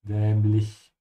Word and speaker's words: dämlich: Make sure you pronounce the umlaut auf ä and keep your mouth open on the ich. Dämlich.